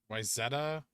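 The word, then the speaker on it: Wayzata: Towns in Minnesota are pronounced Wyzetta, and Evelith.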